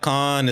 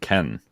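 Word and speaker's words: Cannes: Google's telling me that it's actually pronounced Ken yeah I don't know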